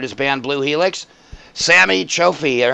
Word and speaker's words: Chohfi: band blue Helix Samy Choi how do you pronounce your last name is that correct or it's pretty close it's it's pretty much how everyone pronounces but of okay excellent Samy